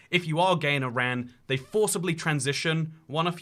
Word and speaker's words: Iran: Yeah, a lot of people think this country is pronounced Iran. It's pronounced Iran, unless you're trying to describe what you should